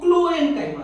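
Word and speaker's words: Chlorenchyma: थोड़ा सा प्रोनाउंसिएशन का अंतर है, देखिए क्लोरेन्काइमा और ये कोलेन्काइमा।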